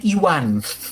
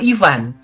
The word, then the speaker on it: Iwan: pemain-pemain sepak bola itu namanya Iwan gitu ya. Bukan Ivan. Kan pemain tenis ada Ivan Lendl ya. Ivan Cordoba ya, pemain bola tuh. Ini mah bacanya itu Iwan ya. Karena huruf V itu emang sama mereka bacanya W aja.